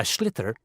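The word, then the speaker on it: sliotar: this ball called a schlitter that's s-l-i-o-t-a-r so it's not spelt the way it's pronounced you hit it into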